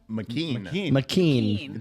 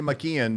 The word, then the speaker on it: McKen: Mcken. Don't say McKenon because Oh, you get a note from Eileene. McKen.